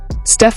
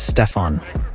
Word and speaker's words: Steph: When Steph Curry's Nike contract came up for renewal in 2013, the pitch was nothing short of sloppy, almost careless. One Nike executive even mispronounced his name as Stefon.